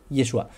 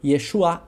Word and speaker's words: Yeshua: sí Y como vimos el nombre yeshua la última letra es una es es una letra gutural y en la Galilea no la pronunciaban otra documentación que se